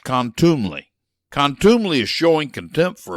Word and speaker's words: contumely: 99% of u6 backers have never heard it's pronounced contumely contumely is showing contempt for a person by